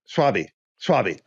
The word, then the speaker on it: Schwalbe: Schwalbe.